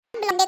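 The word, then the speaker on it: blonde: ब्लोंडे कराने गई है छोड़ा यार। वो ब्लोंडे नहीं ब्लोंड होता है।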